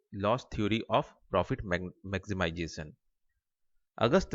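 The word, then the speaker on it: Lösch: ठीक है, ये है LOSCH लॉस। ठीक है, इसको लॉस कहते हैं, प्रोनाउंस करते हैं।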